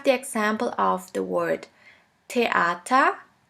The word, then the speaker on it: Theater: Now the last letter combination, TH, TH, which is simply pronounced like a T. Here we have the example of the word Theater, Theater, which means theater.